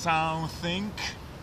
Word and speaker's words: something: Dlatego to nie jest something, tylko to jest something. Oczywiście przypominam o tym g, którego nie wolno wymawiać, bo wtedy wszystko się rozleci.